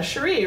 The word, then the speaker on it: Sherri: And my Twitter page, it says, Sherri, rhymes with Capri.